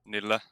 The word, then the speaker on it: Nille: So I guess the correct way would be Nille, but yeah, most people say Nille, so you can use both.